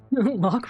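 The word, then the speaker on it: Locke: Lock rhymes with clock, but what does it mean?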